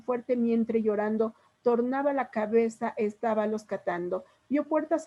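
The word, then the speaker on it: cabeça: Por ejemplo, aquí cabeca, se escribe así cabeca, se pronuncia cabeza, tiene una C con cedilla. La cedilla es una C como con una comita abajo. Chicos, si ven fútbol, por ejemplo, ¿cómo escriben Barça? Así del Club Barcelona. Con una C.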